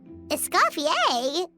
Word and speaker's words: Escoffier: Escoffier? I pronounced it correctly.